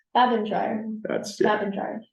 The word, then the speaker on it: Babendreier: what's up with that how do you say your last name oh I meant to go over that with you um I was gonna spell it out like in the email um bab and dryer bab and dryer that's